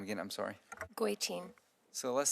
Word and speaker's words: Goitein: Goitein.